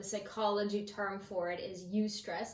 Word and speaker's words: eustress: term for it, is eustress, and it's spelled EU before the word stress, not you stress me out, but yes, eustress, EUSTRESS.